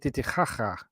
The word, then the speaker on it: Titicaca: So, have y'all swam in Titicaca? I did actually float on Lake Titicaca. Actually, the way they properly pronounce that is Lake Titicaca.